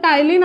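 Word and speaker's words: ptyalin: इसका और एक भयानक सा नाम है टाइलिन, जब टाइलिन आता है ना सब लोग कंफ्यूज हो जाते हैं, ठीक है, टाइलिन पी साइलेंट है, और ये कौन से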